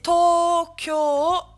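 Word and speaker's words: 東京: C'est Tokyo, avec un allongement deux fois pour le O qui sera allongé avec un U.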